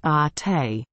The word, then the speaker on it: Ate: It is pronounced ate.